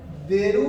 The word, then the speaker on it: 出る: मुझे बस ये मालूम होना चाहिए कि ये इसकी प्रोनाउंसिएशन, इसको ये भी पढ़ते हैं, शुत्सु भी पढ़ते हैं, उसको देरू भी पढ़ते हैं, उसको दासु भी पढ़ते हैं, उसको शुक भी पढ़ते हैं।